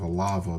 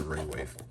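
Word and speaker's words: Raywave: this was kind of a lava, but or kept mispronouncing that as a lava, but it's a ray wave.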